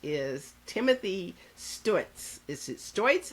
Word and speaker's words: Stuetz: Is it Stuetz? How do I pronounce that, Timothy? Stutz. Stutz. It's like it looks.